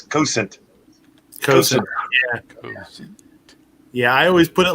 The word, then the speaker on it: Cosaint: them but uh the the irish pronunciation is cousin yeah i always put